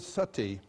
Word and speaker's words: sati: You know the word sati? In Sanskrit it's spelled S-A-T-I, long I.